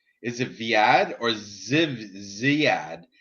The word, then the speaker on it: Zviad: Is it Viad or Ziad? How the fuck do you say that? Zviad. How do you pronounce?